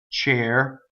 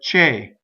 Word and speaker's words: cercar: the card a so the first syllable does not rhyme with chair right the thing you sit in but it's like che cheer the car and that's the other